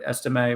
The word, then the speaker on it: Estime: And their run game with Etienne, or I forget exactly how to pronounce it. Estime, I think. Estime, right?